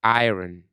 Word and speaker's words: iron: Please remember to say iron so that it No, will iron. iron. So it rhyme with lion.